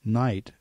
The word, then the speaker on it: knight: developed at the time people were actually pronounced all those letters and then over time these speakers began to Simply say Knight for the object you